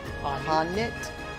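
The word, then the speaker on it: H'aanit: Oh, how do you say her name? Hanit? Yeah. Your name is Hanit, you are a hunter.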